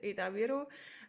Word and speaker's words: Ida-Viru: And there is focus has been on Ida-Viru County. Apologizing for my pronunciation. It's good. You pronounced very well. It's Ida-Viru, and it's eastern part of Estonia.